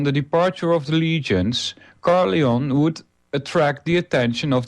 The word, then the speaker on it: Caerleon: translation of the Welsh Caerleon. I hope I pronounced that right. It's Caer-Llaon. Llaon is a lion, and not the original of that appellation.